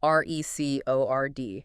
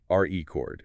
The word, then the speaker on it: record: Stress the first syllable, R-E chord, and it's usually a noun, like a vinyl record or a written account. Okay, R-E chord, noun. Stress the second syllable, record, and it's the verb, the action of recording something. Record, verb.